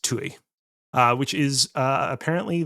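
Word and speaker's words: Ptuj: This was in uh PT T U spelled TUI. Oh, no, wait, no, no, no, no. I was wrong. I was incorrect. It was actually spelled uh PT U, which is still pronounced Tui.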